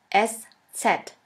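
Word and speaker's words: Eszett: which looks like this we call it s set s set or shafus s shafis s which means a sharp s this letter is pronounced like the double s in the word kiss and always remember this letter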